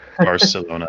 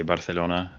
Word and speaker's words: Barcelona: if in Colombia like whether that town is pronounced Barcelona or Barcelona. Like it should it should be Barcelona. Yeah, the the th is only um Spain where they say Barcelona and and even the thing with that is